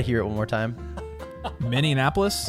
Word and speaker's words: Minneapolis: it one more time miniapolis it's not mini and appolis it's not Min Anapolis it's just miniapolis m oh Min Minneapolis